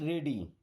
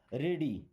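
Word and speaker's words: ready: Okay, get रेडी। Gate means होना या पाना। ओके, अब देखिए यहाँ पे इसका क्या मीन्स निकलता है? रेडी, इसको रीडी नहीं पढ़ना है, रेडी। क्या पढ़ते हैं? रेडी।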